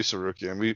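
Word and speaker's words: Tsarukyan: Taking on something called Arman Sarukian. I think I got that right. Sarukian, yeah. Harukin? Oh yeah, it should be Sarukian.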